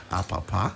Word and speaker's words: Apapa: You asked for the name and get the right pronunciation of the name. So his name is Apapa.